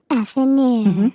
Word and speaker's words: affineur: You pronounce it today. Okay. Affineur.